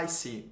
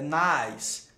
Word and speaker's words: nice: É muito comum, gente, as palavras que são terminadas em E, em inglês, eles não terem essa pronúncia do E. E já o brasileiro gosta muito de ficar pronunciando o E no final das palavras.